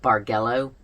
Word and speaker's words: bargello: it is a bar I think it's you pronounce it bargello b a r g e l l o